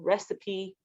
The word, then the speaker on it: recipe: Normally in English, an E like this, where it's vowel, consonant, vowel, the E would be silent, but this one breaks the rule. Recipe.